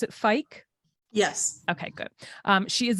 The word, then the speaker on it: Fike: and today's guest is Denise and do you pronounce it Fike yes okay good she is the CEO of